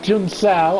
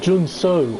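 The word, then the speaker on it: Junção: I know that some of the corners, like Jun Sao, I know, although it's not pronounced like that. It's like Jun Su or something like that. But, sounds like that actor from Lost.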